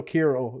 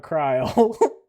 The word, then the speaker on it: Kirill: my name's still Kirill. It's not Kryle.